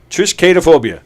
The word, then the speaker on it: triskaidekaphobia: Triskaidekaphobia.